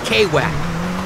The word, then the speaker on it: Wack: me up for sure it's mr quack right call me k-whack that's how i roll over here nobody can pronounce my name right quack quack i'm a shark not a duck for real you probably